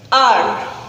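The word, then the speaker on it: hour: The first word is R. It's starting with a consonant H, but its pronunciation is R.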